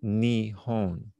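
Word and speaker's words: 日本: Now, if you look at the Chinese characters for Japan, these are the Chinese characters for Japan, and it pronounced Nihon.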